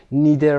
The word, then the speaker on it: neither: من هم نداشتم، از neither استفاده میکنن. neither و یا neither هر دو تلفظ صحیح هست.